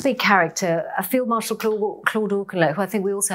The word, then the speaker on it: Auchinleck: And moving that you talk a lot about, you mentioned him already before, but Claude Auchinleck, have I pronounced that right?